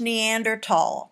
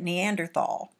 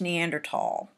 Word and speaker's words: Neanderthal: we have very very happy Neanderthal it is pronounced Neanderthal many times I'll hear people say at Neanderthal well I want you to get it right it's Neanderthal Neanderthals generally lived in areas dominated by cold